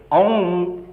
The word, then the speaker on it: ओम: तक इतनी दूर तक एक प्रथम ध्वनि अ है, दूसरी ध्वनि आखिरी ध्वनि म है, और दोनों के अ के बाद म का उच्चारण करने से एक तरह का कर्व बनता है वही उकार है, और यही ओम, ये ओम है, इसलिए इसमें सारे अक्षर